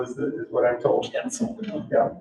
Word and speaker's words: quetzal: Miss Terry always corrects my pronunciation of it, so I'll probably get it wrong again. Quetzal is what I'm told. Quetzal.